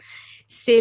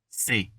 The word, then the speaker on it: ce: It's tempting to pronounce it like c'est, but it's ce.